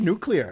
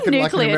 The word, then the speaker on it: nuclear: You said nuclear. I did say nuclear, American, didn't I? I think we say nuclear, like the word new and the word clear.